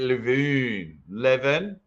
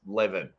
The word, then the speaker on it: Levan: I am trying to get Levan. I think it sounds weird because I keep saying Levan, and I think it's pronounced Levin.